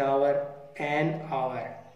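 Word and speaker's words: hour: इसी प्रकार एन आवर, इसमें एच साइलेंट है, आवर के साथ एन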